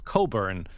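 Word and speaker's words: Cockburn: So definitely I I fully understand why Olivia Wild went with the uh acting name Wild cuz her real last name is Coburn but it's spelled C O C K.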